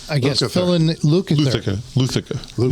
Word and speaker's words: Lukather: Luthica has been hired to I guess, Lukather. fill in Lukather.